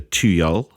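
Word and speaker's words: tuyul: was born in Indonesia it is called the tuyol that's t-u-y-u-l I think that's pretty close to a pronunciation the name literally means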